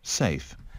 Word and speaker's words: safe: Từ tiếp theo nè, Safe. safe. Safe. SAFE. Safe. Từ này thì dễ, nhưng mà chúng ta thứ nhất chữ E ở cuối không phát âm.